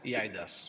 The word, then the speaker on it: eIDAS: It is as you said, eIDAS.